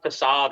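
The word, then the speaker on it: façade: with my um no I think it's like facade which I always used to read as fade until I had somebody actually pronounced it right I mean there there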